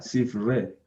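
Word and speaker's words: ספרי: Dice, Sifrei. Correcto, será Sifre, ¿cierto? Porque sabemos que esta yod al final no se pronuncia, Sifre.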